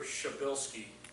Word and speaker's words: Shabilsky: And remember, Shabilsky is the way to pronounce his name, because when you read the way it's spelled, it's one of those incomprehensible names that we just love to make fun of all the time.